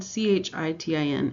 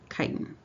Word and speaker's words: chitin: is what we call chitin and it's spelled CH ITIN it's pronounced like KY t I am chitin not chitin so these are also linked glucose